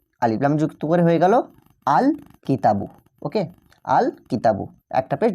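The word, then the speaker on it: الكتابُ: আল কিতাবু। দেখো এখানে যে লামটা লিখলাম লামটা কিন্তু এখানে স্পষ্ট ও আলাদাভাবে উচ্চারিত হচ্ছে। দেখো আমরা বলছি আল কিতাবু।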